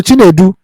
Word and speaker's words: Chinedu: So Chinedu, our dear Igbo brother, You pronounce that name well.